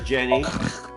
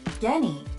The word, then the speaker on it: Genny: Genny, being this man? Genny, not Jenny. Okay, Genny with the G, but it's pronounced like a hard G.